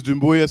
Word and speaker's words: Doumbouya: Um, I uh my last name is Dumboya. Some people find it hard to to pronounce.